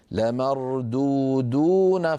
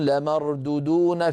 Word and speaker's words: لمردودون: المثال الثاني الذي نراه على اللوحة، لمردودون في الحافرة، هكذا صواب نطقها، لمردودون. فبعض إخواننا من السرعة يقولون لمردودون في الحافرة، فيخطف الواو الأولى ولا يمدها.